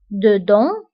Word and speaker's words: dedans: وانتبهوا أيضا بالنسبة dedans و dehors كنكتبوهم بأس في آخر الكلمة ولكنها لا تنطق dedans dehors داخل خارج.